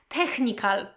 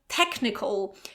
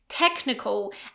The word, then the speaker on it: technical: So technical, technical. And also this al ending is not pronounced as al, okay, but more like all, all. There is also this schwa sound, technical, technical.